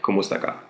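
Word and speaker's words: kumusta ka: you by saying kumaka there is a space between kumusta and Ka but you can say it like one fluid word like kumusta so in South Korea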